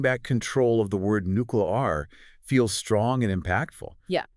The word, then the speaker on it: nuclear: for being mispronounced nuclear do you ever hear people say nuclear all the time drives me crazy it's like they're trying to make it sound cute which is not what nuclear energy is at all yeah yeah you're not alone that pronunciation is incredibly common these days but we know to say it nuclear you know with the power